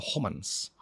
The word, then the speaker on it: Homans: Homans bacanya tu Homans Social Exchange ada hobah exchange theory George Se Homans.